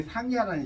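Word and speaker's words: 上邪: 자, 그게 상야라는 시예요. 상야. 이거 읽으라고 했더니 상사에는 무식하다고 그래요. 이때는 야라고 읽어요.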